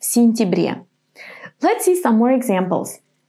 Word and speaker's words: сентябре: And when the ya is unstressed and it's in the middle of the word, it's going to be pronounced just as an I. В сентябре.